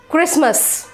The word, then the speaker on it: Christmas: if there is b two foreign foreign g silent letter right christmas christmas christmas not christmas tea silent right m-u-s-c-l-e